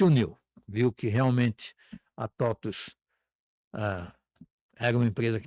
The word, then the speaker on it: TOTVS: vou poder perguntar por Totos se escreve com V e se lê com U?"